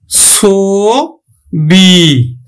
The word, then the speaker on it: ছবি: যেমন দেখো ছবি, দেখো আদ্য অ এর পরে কি আছে? রস্বইকার আছে, তাহলে উচ্চারণ হবে কিন্তু ছবি।